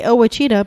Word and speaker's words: Ouachita: I say Ouachita because you wouldn't guess it, but Ouachita is spelled Ouachita.